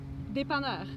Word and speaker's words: dépanneur: So if you're in my position like that, they're called dépanneurs. So if you see that word, am I saying it right? Dépanneur. Dépanneur, like a real Québécois.